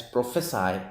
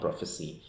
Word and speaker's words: prophesy: the difference is that this is pronounced as prophesy and not prophecy so the Cy is